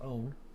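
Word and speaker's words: -one: is e turns into own that's i mean it says one but really it's pronounced own right and so here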